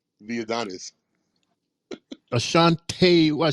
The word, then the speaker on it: Ashante: It's Ashante, the Adonis. Ashante, what I said, Ashanti? Well, it's ASHANTE. It's the same. Ashanti. Ashanti is with an I. So it's Ashante.